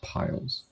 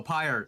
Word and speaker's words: pyre: now yes so are there other platform style piles are the piles whatever the pile was pyre oh pire there we go thank you i was like